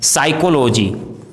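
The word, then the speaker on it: psychology: यदि किसी वर्ड में पी एस साथ में हो तो पी का उच्चारण साइलेंट होता है जैसे साइकोलॉजी साइकेट्रिस्ट सूडो साइकोथेरेपी इन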